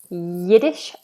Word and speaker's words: Yiddish: So we have Yiddish, yeah, like you're going to say yes.